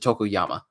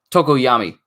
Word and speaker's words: Tokoyami: Is it Tokoyami or is it Tokoyama? Tokoyami. Hold on, I gotta go back. I want to say it right.